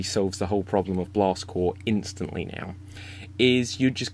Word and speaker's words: Blast Corps: might read it as blast corpse and blast corpse is not the right pronunciation its blast core and blast core was a great idea